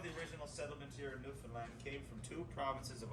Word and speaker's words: Newfoundland: is a beer and it's pronounced newfoundland not newfoundland or new finland newfoundland is the oldest